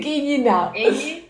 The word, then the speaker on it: Quiñinao: ¿Cómo bien, se pronuncian bien? Es que como tiene las dos I. Quiñinao.